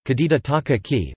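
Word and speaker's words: 梶田隆章: Takaaki Kajita, Weitian Long Zhang Kajita Takaaki, Japanese pronunciation, Kajita Takaaki, born 9 March 1959, is a Japanese physicist, known for neutrino experiments at the Kamiokande and its successor, Super Kamiokande.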